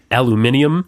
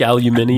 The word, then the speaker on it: aluminium: it mhm versus saying aluminium yeah Al they're hitting every letter in that pronunciation and we are not true we kind of